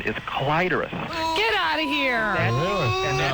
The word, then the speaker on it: clitoris: Listen, when you look at a dictionary, sometimes it will have a couple of pronunciations listed. Yes. The first is always preferred. Oh, interesting. Nice. Yeah, and in the New World, Webster's New World Yeah, Dictionary, clitoris is the first one.